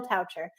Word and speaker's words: Toucher: guest is coucher rhymes with voucher just in case you wondered if you see it voucher just think of voucher toucher this guy is so